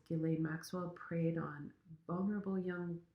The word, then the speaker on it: Ghislaine: have been waiting for, Ghislaine Maxwell's trial. And yes, that is how you say her name. At least her brother says her name that way, so I'm just going to follow suit.